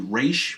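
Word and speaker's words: Ra's: Raz Al Gul and yes I know the pronunciation for Raz is actually re but I I I I pronounce it as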